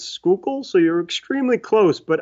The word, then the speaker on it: Schuylkill: of like you know I cheated and looked it up how to pronounce that and I think it's Schuylkill so you're extremely close